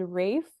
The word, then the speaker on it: Ralph: a girl who's dating a British guy named Rafe and I thought that was insane I was